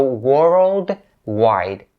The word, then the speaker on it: worldwide: and this word is a little tricky to pronounce especially when it has two syllables that end with a d sound so world wide worldwide so if you